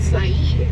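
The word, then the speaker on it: Siyeh: And then straight in front of us, that mountain is Mount Said. That's spelled S-I-Y-E-H.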